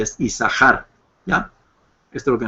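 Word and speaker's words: יששכר: por eso es que el nombre se pronuncia como si fuera una sola Shin sí como isar y no yasar podríamos usarlo también isar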